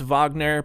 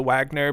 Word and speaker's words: Wagner: George is of German descent, so it could be actually pronounced Wagner, but it is for sure morphed into Wagner by now, so if you don't like it, you can get out.